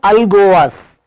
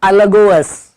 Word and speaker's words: Alagoas: Pernambuco, spelling है Alagoas, बट बोलने के टाइम Alagoas.